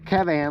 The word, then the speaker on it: Kavan: So, all right, that is the KAVAN, or KAVAN, like cat. You pronounce like you would say cat.